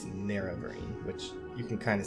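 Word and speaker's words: Nerevarine: about the narrow Vereen by the way it's pronounced NER every I was saying never een before apparently it's near every which you can kind of see from the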